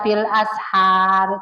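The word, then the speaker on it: بالأسحار: Kalau bacanya jangan ashar. Mulutnya jangan dibuka. Bapak, Ibu kalau baca bil ashar itu jangan dibuka mulutnya, tapi bil ashar. E ya itu namanya bacaan tafkhim. Membacanya dengan tebal.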